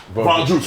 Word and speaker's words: Von Drew: Von Drew, I'm saying it wrong. I'm wrong. It was Von Drew.